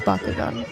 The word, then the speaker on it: Bakugan: If you couldn't understand what Austin said, it's Bakugan.